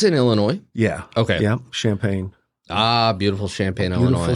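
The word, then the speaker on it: Champaign: Illinois yeah okay yeah champagne ah beautiful Champagne Illinois Beau Champagne by the way that's not spelled like the drink thank you uh okay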